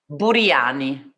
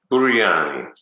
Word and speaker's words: Buriani: Buriani. Buriani. And because it's an Italian last name.